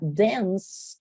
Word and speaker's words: dance: un caso en donde estas amigas también van a tomar el sonido de la muda miren sería Dance y lo que yo hice